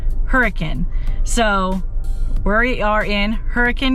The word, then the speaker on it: Hurricane: And I did just learn that I have been pronouncing that wrong. I've been saying hurricane because that's how it's spelled, but a local told me, do not pronounce it that way. That's not how it's pronounced hurricane.